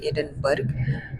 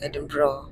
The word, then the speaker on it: Edinburgh: We'll enjoy Scotland, or the capital city, which is Edinburgh. A lot of people say Edinburgh, but it is Edinburgh. It's a cool word, like GH, they don't pronounce it.